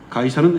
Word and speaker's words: 가이사: 아니하니이까 우리가 바치리까 말리까 가이사가 누구죠 가이사는 헬라식 발음이고 영어식 발음은 저입니다 그러니까 로마황제 시저를 나타내죠 만일 주님이 가이사에게 세금을 바치지